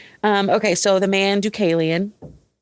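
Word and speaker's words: Deucalion: So, the man Ducalian, the name I looked it up. Let me find Let me find my notes. My notes. Um, in Greek mythology, Ducalian is the son of Prometheus and Climiny.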